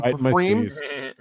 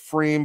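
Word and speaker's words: Pfriem: This is from Pafreme. Pafreme, we're big fans of Pafreme on the program. It's actually pronounced Freem, but it's spelled like Pafreme, so I say Pafreme.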